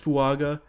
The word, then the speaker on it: Fuaga: up and get a either tiis fuaga or tiis fua I think is how you technically pronounce it or maybe a Troy